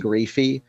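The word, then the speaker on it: Graefe: Jean Graphy.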